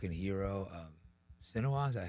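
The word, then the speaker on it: Sinwar: He was a hero of Sinoir. Is that how you say his name? Yeah. Yeah. Sinoir.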